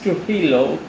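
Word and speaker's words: Trujillo: are there mentioned in the internet their pronunciation is to hello but the writing is j t r u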